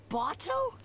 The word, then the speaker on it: Bato: voice please dad saka botto who the what now bottom i was wrong i would not have considered that pronunciation i should have especially since i compared it to the word balto botso damn the sisters